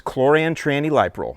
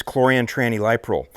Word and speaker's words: chlorantraniliprole: liquid concentrate version, and the way that I pronounce it is chlorantraniliprole. So the active ingredient in the brand name Acelepryn is chlorantraniliprole.